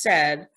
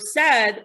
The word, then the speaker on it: said: What the word is said, what's the sound? What's the letter? S. What's the last sound? D. What's the letter? D, right? Now, what's the middle sound? Eh. Now, with the word said, we spell it with AI.